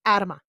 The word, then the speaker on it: Adama: for the show that i've always said the name wrong so it is adama okay everybody got that